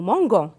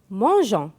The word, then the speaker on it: mangeons: avec je mange ans si je n'écris pas eu je vais prononcer nous mango et c'est faux donc nous mangeons la même chose avec